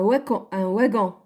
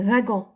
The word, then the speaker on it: wagon: Il y a des gens qui le prononcent un wagon. Mais non, c'est un wagon.